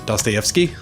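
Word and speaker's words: Dostoevsky: old book yeah is it I had the pronunciation of his last name in my head velocity as Joyce TF yeah yeah don't stay up ski that's it thank you yeah and then other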